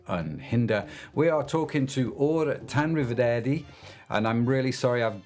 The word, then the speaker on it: Ugur Tanriverdi: Why don't you correct my really poor pronunciation on your surname, sir? It's Ugur Tanriverdi.